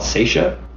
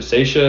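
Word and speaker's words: Saetia: is this band from the 90s um called seisha how do you spell that s-a-e-t-i-a they're a screamo band from new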